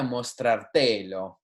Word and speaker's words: mostrártelo: And that's because we have to maintain the stress of this verb on the second syllable, mostrar, right?